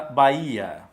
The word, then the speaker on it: Bahia: nós colocamos a palavra Bahia na palavra Bahia uma duas três quatro cinco letras 5 letras como h não tem som as quatro formas Ok